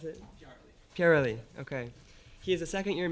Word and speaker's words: Pyareli: How do you pronounce it? Pyareli.